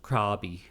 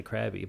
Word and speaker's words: Krabi: I thought it was supposed to be pronounced Krabi, like a raw. Oh. But then everybody there, including Thai people, say Krabi.